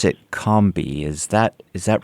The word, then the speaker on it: Combahee: gate for your wonderful book I'm going to pronounce it Combi is that is that right it's a wonderful story about yeah that's correct you could comei or it's more of a you sound cby kby okay good wonderful uh your new book